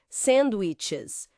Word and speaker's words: sandwiches: Sandwiches. O som do CH.